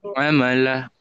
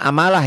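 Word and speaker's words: عَمَلًا: Sekarang ukuran amalah. Jangan amalah ya. Amala. Amala. Amala. Amala. Iya. Heeh. Yang ini amalan. Amalan. Kalau yang ini dihentikan jadi amal, yang ini amala beda ya. Yang ini kalau berhenti membacanya amal ini amala tuh beda kan?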